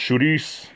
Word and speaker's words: chouriço: It's in Portuguese it's pronounced chouriço. It's spelled. There's no D in it, but the R makes a D sound.